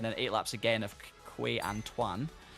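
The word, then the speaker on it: Quai Antoine: Eight laps of Casino Square and then eight laps again of Quay Antoine. Key Antoine, but Key is spelled like with an I, very strange.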